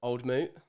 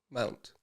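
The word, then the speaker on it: Old Mout: Oh no, okay, so it'd be Old Moot berries and cherries. Old what? Old Moot? Mount.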